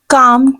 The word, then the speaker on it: calm: गुस्सा थूक दो, calm down. Calm down means पुरसकून हो जाओ, गुस्सा मत करो, relax. Right? गुस्सा थूक दो, calm down. The word is calm down. L is silent here.